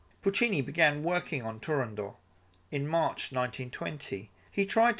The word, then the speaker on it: Turandot: the final t in Turandot. Soprano Rosa Raisa, said that neither the composer Puccini nor the conductor of the opening performance, Arturo Toscanini, pronounced the final t. Puccini began working on Turandot in March 1920 He